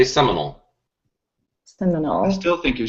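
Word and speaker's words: Sayre: hashtag under Damon Lane it is seol not seal you can't Oklahoma weather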